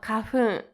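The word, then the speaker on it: 花粉: And then as for the Chinese pronunciation, you have kahun.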